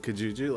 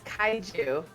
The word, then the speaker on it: Kaiju: It's what is this like Pokemon Unite, but with Kajuju? Like I don't. Is that what we're dealing with here? Did you just say Kajuju? What did I say it wrong? It's Kaiju. Kaiju.